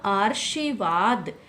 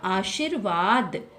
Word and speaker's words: आशीर्वाद: हम यहां पर करेंगे यहां अगर हम उच्चारण करते हैं तो यह क्या बनेगा आर्शीवाद जो कि गलत है इसका सही है कि उच्चारण क्या होगा आशीर्वाद आशीर्वाद यह क्योंकि रे की